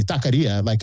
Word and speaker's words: taqueria: or taqueria with a Q, I say it with a K. I say taqueria, and that's just the way I say it. And the majority of people here say taqueria, that's the way we've pronounced it.